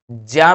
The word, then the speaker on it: ज्ञ: ज्ञान पढ़ते हैं इसको, ज्या पढ़ना चाहिए। शुद्ध उच्चारण इसका ज्या होगा, ये याद रखिएगा।